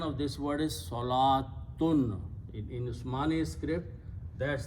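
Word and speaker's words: صلاة: So the pronunciation of this word is salatun. In Usmani script, that's how it is written. This waw is written, it is not pronounced.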